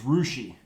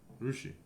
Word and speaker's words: Russia: probably mine though like they have a town here that's spelled Russia but it's rushi yeah rushi that's true or um